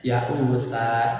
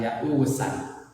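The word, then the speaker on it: يؤوسا: di akhir kalimat, dan tanwin fathah berarti alif diwakofkan, dibaca disebut mad iwad, dibacanya ya usa, jangan ya usan.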